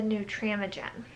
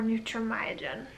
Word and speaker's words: Nutramigen: up switching her to the new tram again or Nutramigen people pronounced a different and that is a